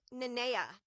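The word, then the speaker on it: Nanea: I've heard all different kinds of ways that people pronounce this name, but it is in fact Naa.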